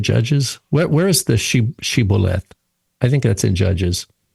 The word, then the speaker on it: shibboleth: Israelites and they say say this word shibboleth and they say sibboleth. They can't say the word. Right. They can't they can't match the pronunciation.